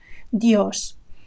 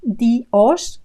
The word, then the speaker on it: Dios: for God in Spanish, Dios. So notice that it's not Dios, we don't separate the two vowel sounds, it's Dios with a very short I and the stress on the letter O, Dios.